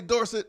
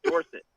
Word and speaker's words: Dorsett: For people who may not remember, he was Tony Dorsett until he was a senior at Pitt. At Pitt, he asked to be called Dorsett.